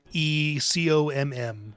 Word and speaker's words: RyanTheComm: Yeah, Check him out, RyanTheComm, like Ryan the communicator, or I like to think that it's a mix of Ryan the Calm, like a calming presence. but it's spelled COMM.